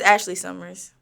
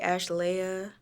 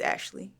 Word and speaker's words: Ashleigh: way to pronounce your stage name oh just Ashley Summers do people mispronounce this yeah I forgot where I was I was just somewhere and someone had called me like ash Leia and other people like don't really know how